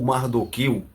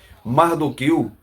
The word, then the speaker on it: Mardoqueu: eu vou dizer aqui mardoqueu é a pronúncia do nome dele no português Mordecai no hebraico então não interessa se e eu digo Mordecai ou mardoqueu os dois estão correto tá então esta uma